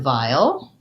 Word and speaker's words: vial: So vowel as in repulsive and vowel as in a small container of something have the same pronunciation. So they both have the diphthong I, the voiced V, and the dark L, vowel. So there's a little bit of an I and I'll, vial. Yeah, okay, so same pronunciation for those two words, and the challenge